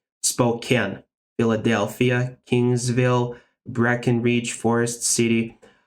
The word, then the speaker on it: Spokane: Farber, Spokane, not Spokane. Spokane, Philadelphia, Kingsville, Breckenridge, Forest City, Frona, Kellow, or yeah, it sounds like Kellow for me.